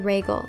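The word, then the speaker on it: Rhaegal: based off of next i have the name regal spelled r-h-e-a-g-a-l and regal is the name of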